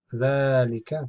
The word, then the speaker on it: ذلك: Note, ذلك is pronounced ذلك, but it is written without alif, because the alif is not written. But this is how it's read.